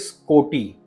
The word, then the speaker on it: कोटि: The next word is कोटि। और इसमें डबल टी का उच्चारण है। कोटि यानी करोड़ और मिलियंस। और इसे हमें थोड़ा सा जोर से बोलना है।